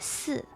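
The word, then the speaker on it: 死: Yeah, cuz in Chinese four is pronounced as s and death in Chinese is s.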